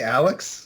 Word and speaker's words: Alyx: I'm going to say Alex, yeah, because it's Alex, the girl from Half-Life 1.